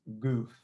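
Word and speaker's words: גוף: It's pronounced goof, and it's composed of 3 letters, Gimel, which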